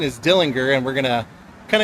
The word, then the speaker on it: Dillinger: We found out that the proper pronunciation is Dillinger.